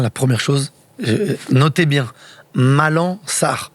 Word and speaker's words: Malang: Alors déjà la première chose, notez bien Malan, on ne dit pas le G. On dit pas le G, on prononce pas le G. On prononce pas. On prononce pas le G. Malan.